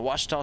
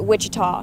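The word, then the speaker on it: Ouachita: for wasita Baptist University back in Texas everybody pronounces it Witchita but really it's wash wash wash that would you pronounce it was it's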